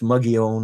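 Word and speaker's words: Mogollon Rim: The Mogan Rim is spelled like Mogulan, but it's pronounced Muggyon or Moon.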